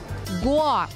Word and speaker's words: Гоа: Многие туристы говорят «Гоа», но это неверно. Правильно ставить ударение на букву «О» – «Гоа».